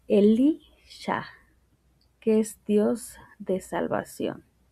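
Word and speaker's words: אֱלִישָׁע: Eliseo en hebreo eh se pronuncia Elisha, que es Dios de salvación.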